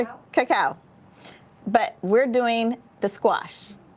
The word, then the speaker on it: cacao: beans chili tomato tony potato vanilla and cacao coco how do you say it cacao but we're doing the squash part of our